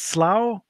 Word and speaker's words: Slough: swearing that one of these days the it's pronounced Slough the slough is that right I generally say